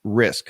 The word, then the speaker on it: RISQ: Now he's using data from Boston-based Risk, which is spelled RISQ, and they are a data analytics firm specializing in climate risk.